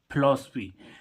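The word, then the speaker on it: philosophy: guys अब देखो एक और इसमें क्या है फिलॉसफी पी एच आई पी एच आई एल ओ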